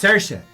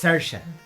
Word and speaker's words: Saoirse: Oh, it's Saoirse. It's Saoirse. Hey, get a name, and if you pronounce it Shersha, put an H in there.